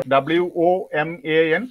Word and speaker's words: woman: Or also W-O-M-A-N, woman, man. Again, it is schwa sound there.